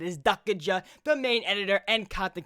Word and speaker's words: Dukaja: I asked him if I got it right, but that's how you say it. Is Dukaja, the main editor and content creator for KARNAGE Clan.